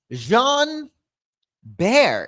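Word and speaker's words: Jean Béraud: So, we have Jean Bear is how you say his name.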